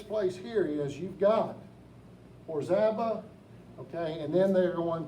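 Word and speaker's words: Orizaba: And I cannot pronounce the name of this town. This little community, Orzaba. Is that it? Orzaba, hey, I got it right.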